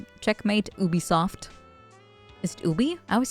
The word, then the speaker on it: Ubisoft: say Taco makes sense you say it like Ubie Ubisoft CU they're French right yeah makes sense what's